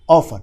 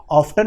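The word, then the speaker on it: often: Adverb of frequency है, ऑफन। अगर आप इसको ऑफ्टन भी प्रोनाउंसिएशन करेंगे तो कोई गलती नहीं होगा।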